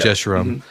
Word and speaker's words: Jeshurun: And I'm sorry, I don't know how to pronounce that word. I struggle with Hebrew names. It's fine. Jeshurun? Yeah, Yeah. Jeshurun.